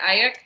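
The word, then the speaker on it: Aiyuk: Ayuk?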